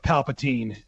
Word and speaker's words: Palpatine: Abrams, for his part, says in a new interview with Empire, some people feel like we shouldn't revisit the idea of Palpatine.